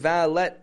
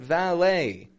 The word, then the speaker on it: valet: Buffet has valet parking Buffet ET ending valet e t ending making an a sound I'm not saying V vet parking valet but valet when you pull up